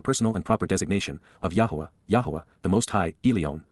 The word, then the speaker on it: Yahweh: respectful and perfect jph Yahweh yah the proper pronunciation of the name of eloah God as directed in his